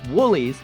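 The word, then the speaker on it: Wholey's: Actually pronounced Woolly's.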